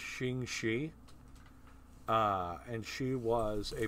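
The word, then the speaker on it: Ching Shih: a real historical figure I believe her name is pronounced shingi uh and she was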